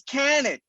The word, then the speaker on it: Kanik: Broadcast, we have none other than the very own Kanik, known to many of you major marks out there as Kaniki.